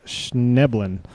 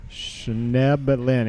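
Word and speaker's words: Schnoeblen: It's pronounced Schneblin. Oh, really? Schneblin.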